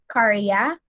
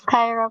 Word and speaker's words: Kyra: So we have there, number 1, try to answer Karya. Anna danced. Mama Karya? ko po ba? Yeah, yes, dear. Anna Mama, danced. it's pronounced as Kyra po. Yung name ko po.